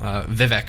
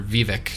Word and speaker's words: Vivec: of the Living Tribunal, Vivec or Vivek, depending on how you pronounce it.